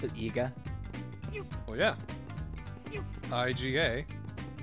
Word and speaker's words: Iga: I-G-A. The syllables are always the same, so Iga.